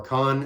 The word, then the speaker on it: Can: with credit rock pioneers can or khan as it's sometimes pronounced can um they were